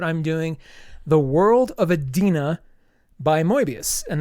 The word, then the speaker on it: Edena: doing the world of Adena by mbius and that's spelled Ed n uh not Ed i n not Adina it's Adena think about you know the Garden of Eden with an a after it um and I apologize